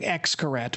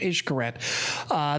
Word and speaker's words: Xcaret: issue correct parks which looks to our eyes as saying Xcaret but it's pronounced ish curette they have cenote parks